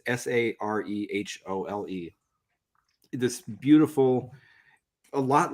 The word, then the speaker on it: Sarehole: he grew up, and I think it's pronounced Sarhole. It's Sarehole.